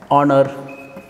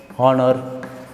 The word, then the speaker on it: honor: words uh so some words are like this honor honor honest honest honorable honorable and our air so